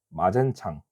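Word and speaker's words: 馬建常: 마젠창. 한국 발음으로 마건상이고요. 그리고 외교고 고문은 특이하게 독일인을 보낸다고 했습니다.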